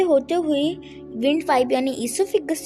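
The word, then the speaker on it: oesophagus: Pipe तक जाता है, जिसे कि हम ईसोफिगस कहते हैं। यहाँ पर ओ जो है वो साइलेंट रहता है। यहाँ से होते हुए विंड पाइप यानी ईसोफिगस से होते हुए उसके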